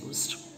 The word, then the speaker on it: used: a consonant so is used next one i bought dash used car salute the word used that begins with the sound yeah you just like university european unicorn uniform so the article is uh